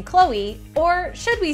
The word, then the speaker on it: Khloé: pronouncing her name we're all been pronouncing her name wrong this whole time it's chloe chloe is the name there's a little accent